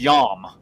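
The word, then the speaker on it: ים: um is in the in the Hebrew is yam like you pronounce it y a WM I mean if you spelled it in English right um so that's a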